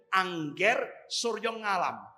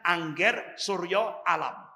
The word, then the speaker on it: Angger Suryo Alam: Jadi biasanya kalau dulu orang bacanya itu Angger Suryo Ngalam. Kalau sekarang bacanya Angger Suryo Alam.